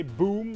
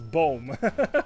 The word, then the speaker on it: boom: means tree, basically, it's boom. Like that's how we pronounce that. Instead of boom, we say boom, and boom is the Dutch word for tree.